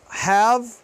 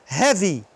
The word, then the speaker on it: have: Ó, have, store. Olha só. Se eu falar com o Y, se eu falar o Ezinho aqui no final, have vai virar heavy.